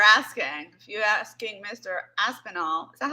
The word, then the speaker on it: Aspinall: The way I just said it, Aspinall. That's 100% right. Nice. People say Aspinali. Because I'm Italian, they add an I on the end. People say Aspinwall, they add a W in there.